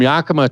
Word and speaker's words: Yakima: from Ellensburg or maybe I should say from Yakima yeah that's how you pronounced it yeah it is uh-huh so from Yakima to Leavenworth was under construction and I sat